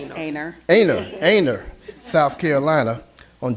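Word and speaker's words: Aynor: And whereas David Scott was born in Anure, South Carolina. I hope I'm pronouncing that right. Aner Aner Aner, South Carolina on June 27th, 1945.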